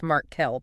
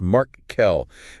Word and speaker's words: Markle: That's pronounced Mark Kell, by the way. Yes, Mark Kell.